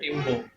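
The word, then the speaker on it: Rimbaud: তো উচ্চারণটা ওরা করে, মানে ফ্রেঞ্চ উচ্চারণ করে রিম্বো।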